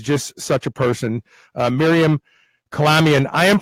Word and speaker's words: Kalamian: next guest is just such a person Miriam Colombian I am pronouncing your name properly is that correct I'm